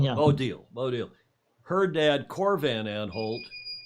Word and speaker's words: Odile: sometime, that her dad, Deal Van Aanholt's, the Deal, is that how you say her name? Odile, yeah. Odile.